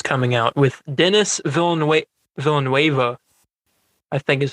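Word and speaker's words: Villeneuve: movie dune that's coming out with dennis villanue villanueva i think is how you say his name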